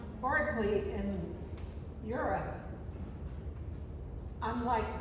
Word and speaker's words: Berkeley: And the reason it's pronounced Berkeley in Europe, unlike Berkeley in the United States, is because of the caste system.